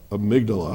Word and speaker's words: amygdala: Let me see if I can say it correctly, the amygdala. You did good, amygdala.